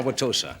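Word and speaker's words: Wauwatosa: indian are you an indian no ow why wanwatosa did i pronounce that correctly yes you did thank you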